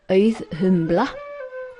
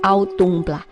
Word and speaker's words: Auðumbla: Auðumbla, Euth-eumbla. Please do not say Auðumbla. That hurts me. Wrong accent, wrong pronunciation. She is Auðumbla.